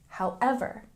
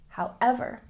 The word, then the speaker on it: however: fancier than but however with this word we have a stress on the second syllable however however and similar to but